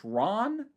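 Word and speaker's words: Ran: I have only seen one other film from him, which is, I think it's pronounced Ron.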